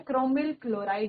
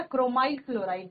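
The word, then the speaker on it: chromyl chloride: क्रोमिल क्लोराइड या क्रोमाइल क्लोराइड गैस है।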